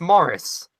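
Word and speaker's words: Maryse: It's spelled like that. It's Morris. Yeah.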